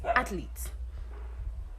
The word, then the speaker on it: athlete: So it's athlete. You pronounce it that way. So the correct English pronunciation has 2 syllables.